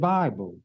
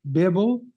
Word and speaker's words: Bible: let us reason together I'm not mad at you because you mispronounce it Bible and you're going to be mad at me because I pronounce it correctly Bibble excuse me I pronounce it Bibble it's what it is